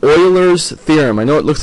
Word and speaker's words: Euler: thing I'm going to explain tonight it's called Oilers theorem I know it looks like uler or something like that or eer actually pronounced Oiler it's a German mathematician Oiler theorem